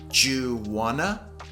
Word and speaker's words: do you want to: talk about pronunciation so do you want to is often pronounced juana juana juana do you